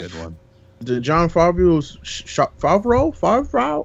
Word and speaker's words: Favreau: the John Favreau's Favreau. I don't know how to say his last name. Favreau? Yeah, there you go.